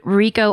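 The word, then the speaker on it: Richo: in Love by David Rico. R I C H O is how I'm assuming it's pronounced.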